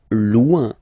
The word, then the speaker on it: loin: Loin. Loin. So remember when you get this combination O-I-N, it's ouin, ouin, ouin, okay?